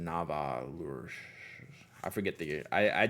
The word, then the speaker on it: Nahvalur: you all online now they say narwhal but you have to pronounce it Nava I forget the I